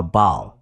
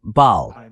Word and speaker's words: Baal: Ahora, este Baal, yo pensaba que se pronunciaba Baal. Así que, Baal, lo pronuncié mal, en fin, Baal.